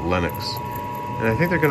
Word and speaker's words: Lennox: Not Linux, but Lennox.